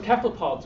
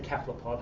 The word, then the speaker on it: cephalopod: Joking aside, it's actually a Greek word, so my understanding is, and my feeling is that if it's a Greek word, you should say it like the Greeks say it, and they say cephalopod.